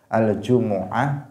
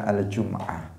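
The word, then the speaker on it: الجمعة: jumaah atau jumiah nah yang umum itu dua aljumuah dan aljumah tadi yang di atas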